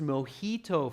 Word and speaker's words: mojito: And it's pronounced mojito for those of you that aren't sure.